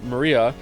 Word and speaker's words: Maria: right her name is written of course it's pronounced Maria the third character looks like a cross which